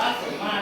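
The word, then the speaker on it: สมมาตร: มั้ย อย่าง ตัว อย่าง คำ ว่า สมมาต ไม่ ออก เสียง ร เรือ ได้ มั้ย ไม่ ออก เสียง ร เรือ ก็ อ่าน ว่า สมมาต ได้ เหมือน เดิม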